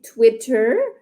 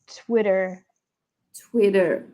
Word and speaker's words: Twitter: OK, fait que si on prononce, fait que si je dis Twitter, ça sonne plus britannique, mais si je veux vraiment parler l'anglais d'Amérique du Nord, je vais dire Twitter.